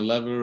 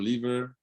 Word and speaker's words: lever: In one, you're pulling a lever or a lever. Both pronunciations are fine. Depends on where you live in an English-speaking world.